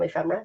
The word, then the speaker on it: ephemera: you explain to us what ephemerate is am I saying it right you are ephemera yes okay show you